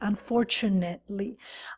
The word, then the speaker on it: unfortunately: so look careful here because many students want to say unfortunately or fortunately no no no no what you want to do is you want to create this sound your Nets this pronunciation it's like internets unfortunately unfortunately unfortunately we